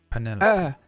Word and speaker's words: Penelope: How do you pronounce the name? Penelo. Penelope? Penelope.